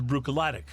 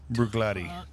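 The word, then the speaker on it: Bruichladdich: Seven was bugaladic. I have a little buglatti.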